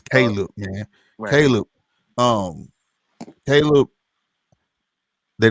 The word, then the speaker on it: Caleb: I'm from Missouri man I keep calling this boy khib because that's how we pronounce it's Caleb man Caleb um Caleb